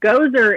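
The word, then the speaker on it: Gosar: well from alabama um gozer is how i've been told his name is pronounced as if he is that uh creepy dude in uh in the ghostbusters movie spelled differently pronounced the same um and what i've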